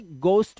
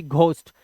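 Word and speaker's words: ghost: लेकिन वैसे प्रोनाउंसिएशन में से गोस्ट बोलते हैं, गोस्ट ना कि घोस्ट, बट यहाँ पे घ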